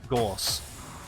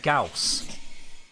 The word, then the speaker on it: Gauss: the fastest very far even vault can outrun gors so or scouse i gotta get used to saying it correctly it's gauss i'm gonna keep making a mistake i've been